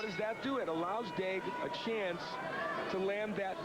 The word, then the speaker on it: Daigle: Her name is spelled that way. And of course, most of the folks we deal with who are from Louisiana or the Cajun area would pronounce it Daigle, but not so up in French. Canada. Fighting out of the back. Hence we call her Daigle.